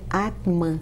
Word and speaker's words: Atman: Esse T é mudo, né? Atman. Atman.